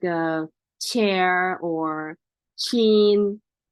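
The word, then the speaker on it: 차: or car same cha so you have to pronounce very well it's not the same like the ja or sa it's a cha cha is put your teeth together and break it chat with air cha and next alphabet is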